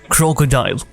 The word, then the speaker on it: Krokodil: injecting an unusual drug crocodile da of morphine often known as crocodile pronounced like the crocodile is a very addictive